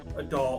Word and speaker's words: adult: So the first thing I want to talk about is the T sound at the end of the words last, adult, and threat. Now if you listen, there's not really a strong T sound there.